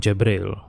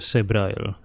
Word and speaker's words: Jabrael: be compensated Zoe Kaminsky so that's how you pronounce his last name he said Samsung jabriel not sabriel I didn't know the